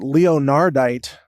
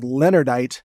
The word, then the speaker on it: leonardite: using is called, well, at first I called it leonardite, but I've since learned it's pronounced leonardite, but it's kind of spelled leonardite.